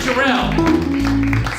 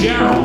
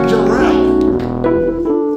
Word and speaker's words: Jarrell: Brandon come on jell no it's not jell it's Gerald like daral gerell Brandon how do you